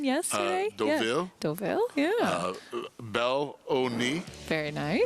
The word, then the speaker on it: Deauville: We had a Chantilly practice pronunciation yesterday. Deauville. Deauville, yeah.